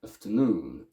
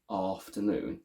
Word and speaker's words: afternoon: because they're not stressed so we would say afternoon but because it contains a secondary stress so the r syllable comes two syllables before moon we say afternoon we keep it strong the same thing happens